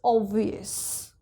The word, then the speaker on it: obvious: V is not our special letter, so this is obvious, obvious.